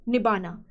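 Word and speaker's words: Nibbāna: They made attempt to attain nibbana. Nibbana is nothing but same as nirvana but in Pali language. In Pali language, क्योंकि वहां पे र silent होता है।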